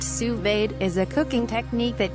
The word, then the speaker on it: sous vide: a modern-day cooking equipment sous-vide pronounced sous-vade is a cooking technique